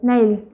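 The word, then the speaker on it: 내일: तो ये ई मिडल में तो आपको पता है ये साइलेंट है, ओके, मिडल बिगनिंग में साइलेंट है, तो नै ई ल ल, ये आपका एंडिंग साउंड देगा तो ल, रियल का ल, नै ई ल, नैल नैल नैल नैल मतलब टुमारो टुमारो।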